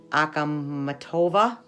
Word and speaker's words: Akhmatova: never heard of her it's um a KH m a T OVA ahkamat OVA I believe is how you say up and under her